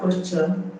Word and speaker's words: posture: and d we have posture the t in posture is pronounced ch.